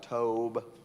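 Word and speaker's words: טוב: It looks like, according to Blue Letter Bible, it's pronounced something like Tob.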